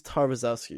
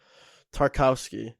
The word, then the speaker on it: Tarkowski: that backline tara scout tar i think it's tarvazzowski excuse me yeah tarkowski that's excuse me how you pronounce it tarkowski has been all right he's